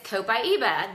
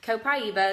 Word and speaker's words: Copaiba: Next one is Copaiba. This one, or Copaiba, some people pronounce it differently. So Copaiba is how I've pronounced it.